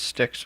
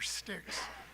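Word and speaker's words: Stix: my name is sticks it's spelled and the last name is stiix not like the river I'm here representing uh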